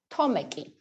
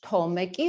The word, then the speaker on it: Tomek: yeah okay okay okay tomaki or okay maybe okay how do you say it in your language tomeki or tomeki we say tomek thomas yeah george tomic